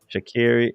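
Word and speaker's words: Sha'Carri: shakari shakiri that's what that's how she says her name is pronounced shakiri is one of the fastest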